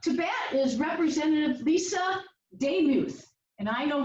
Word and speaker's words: Demuth: Next up to bat is Representative Lisa Demuth, and I know how to pronounce her name because she's corrected me several times. Right, Lisa? 2 minutes. It's like Joe Namath. That's how I remember.